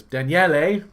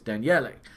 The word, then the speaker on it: Daniele: Daniele. You got to pronounce his name correctly. In fact, actually, there's another Daniele on the site, and I initially called him Daniel, and it's Daniele.